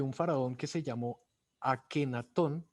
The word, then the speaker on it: Akhenatón: faraón que se llamó a ken atom o amenofis quart su pronunciación correcta es anc atom él fue el primer